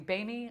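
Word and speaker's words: Böhme: got Pythagoras Jakob Boehm I pronounce it balm it might be BAE me I say bone I'd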